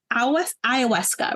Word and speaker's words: ayahuasca: And the first thing I thought was, did you do ayahuasca, right? That's how you pronounce it.